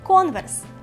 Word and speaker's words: Converse: Converse. Марка звучить як початок слова conversation, яке ви вже знаєте.